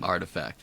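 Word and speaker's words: RTFKT: It's pronounced artifact, Vince.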